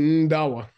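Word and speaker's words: ཟླ་བ: ZL is pronounced nd, prenasal D, nd. And the classical example is Ndawa, Sengdawa, which means the moon, because it's the partner of the sun.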